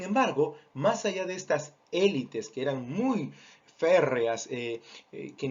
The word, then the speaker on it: élite: La palabra en francés se pronuncia élite, no tanto élites. Esa es una castellanización, vamos a decir, pero que en realidad podría y debería respetarse la forma del idioma original.